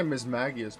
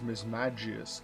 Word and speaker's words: Mismagius: I often say Mismagius, but I'm pretty sure it's Mismagius, because it's either mage, magic, it's all a J sound.